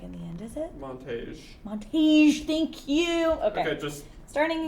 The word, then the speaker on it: Montage: Beauregard I don't think it's Montag in the end, is it? Montage. Thank you. Okay, just starting again. resume. So it's about this guy, Beauregard, affectionately nicknamed Bug Montage, and he is just kind of your working man.